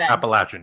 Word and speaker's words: Appalachian: of the world world so they pronounce it Appalachian yeah Appalachian so the Appalachian Trail